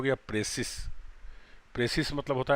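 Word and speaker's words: précis: तो ये हो गया संक्षेपण, ठीक है, प्रेसिस। लेकिन अगर इसमें ई जोड़ देंगे तब इसका मतलब हो गया प्रिसाइज। प्रोनाउंसिएशन में भी डिफरेंस है, प्रेसिस, और इसका हो गया प्रिसाइज।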